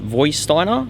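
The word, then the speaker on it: Vorsteiner: I think it's pronounced Voisteiner.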